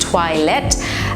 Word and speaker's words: toilette: Yes, it sounds like toilette, but it's pronounced toilette.